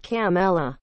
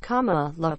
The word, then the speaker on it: Kamala: her first name correctly it's not camella it's not kumala it's not carmella the kid said in the video each incorrect variation was spelled out and crossed off on screen kamala is pronounced comma look like the punctuation mark according to the california